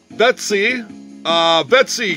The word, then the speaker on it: Vitesse: Vetsy Group. I believe that's the right pronunciation. Vetsy is the toy manufacturer here, and made in China, the Vetsy Group.